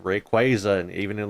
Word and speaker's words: Rayquaza: Like I'll admit, I was a Rayquaza boy instead of Rayquaza. That's how I always said it as Rayquaza back in the day. But I've heard it said Rayquaza, and even in like official like pronunciations, it's